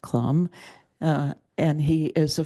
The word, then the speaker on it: Clum: here and most of you know John Clum pronounced Clum uh and he is a former um English